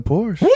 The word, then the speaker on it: Porsche: I used to work at Porsche.